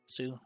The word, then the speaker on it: す: す This is su or su. Pronounce it as su, like in the word soon. す The first stroke consists of a horizontal top line and the line curving down.